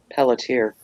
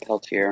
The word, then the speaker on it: Pelletier: Pelletier, not Peltier.